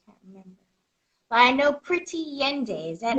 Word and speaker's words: Pretty Yende: But I know Pretty Yende. Is that how you Yes, pronounce her I name?